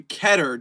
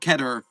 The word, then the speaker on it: Keter: Uh just because people see that it looks like the word meter does not mean it rhymes with it.